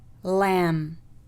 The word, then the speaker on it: lamb: القاعدة الثانية: إذا جاء حرف الM يليه حرف الB في نهاية الكلمة فإن حرف الB لا يلفظ. حرف الB لا يلفظ. So for example, comb, comb, lamb, lamb, tomb, tomb, climb, climb, limb, limb.